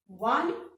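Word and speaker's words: one: ठीक है, अब आप ध्यान से देखो, ये 1 स्पेलिंग तो ओ से स्टार्ट हो रही है जो वावल है, बट जब हम इसको बोल रहे हैं तो इसमें 1 व का साउंड आ रहा है, और व क्या है?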